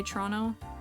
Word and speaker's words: Toronto: this is just smt don't pronounce T's down here completely Fair honestly it's just a me thing that I pronounce my te's a lot of the time normally I would say trono Tron trono but uh